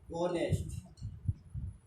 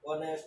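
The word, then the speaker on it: honest: মনে করো লক্ষ্য করো ওনেস্ট অথবা ওয়ানার অথবা ওয়ানার্স, এরকম অনেস্ট, ওয়ানার্স, ওয়ানটা ইংরেজির বেলায় আমরা লক্ষ্য করো আওয়ার, এই ধরনের শব্দগুলো যখন হয় এখানে এইচ কথাটা সাইলেন্ট লেটার হিসেবে থাকে।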